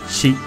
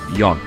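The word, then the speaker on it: 四: So number 4's got 2 as well. It can be pronounced as shi or yon.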